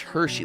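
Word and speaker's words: Hexi: Yeah, I'm still pretty early in uh Hershey. That's the other thing, too, about the uh name of this area. It's It's spelled H E Xi, but it's pronounced Hershey, like the Hershey kisses.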